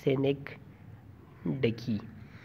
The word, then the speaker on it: synecdoche: जो figure of speech है इसको हम कहेंगे सेनेक डकी। इसकी स्पेलिंग है एस आई एन, ये स्पेलिंग है इसकी SYNECDOCHE, सिनेक्डकी।